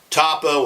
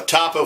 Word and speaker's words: Topo: for it and uh toppo or topo however you want to pronounce it is fine by them but uh topo for top of the hill but i'll tell you